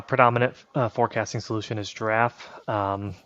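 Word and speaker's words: Jirav: uh forecasting solution is draff um sounds like the animals spelled with a j j i r a v um is a platform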